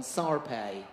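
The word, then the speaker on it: Shar-Pei: the dog number 6913 controversy Reigns over the pronunciation of this breed some devotees insist on sarpei along the lines of I say tomato you say tomato originally renowned as a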